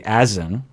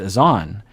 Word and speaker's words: Azan: time and then i started hearing them say azen and i was mortified that i had been saying the name wrong the whole time but then someone emailed